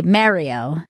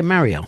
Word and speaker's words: Mario: like two syllables but they say it like Mar not Merritt like not like Merry Christmas I say it the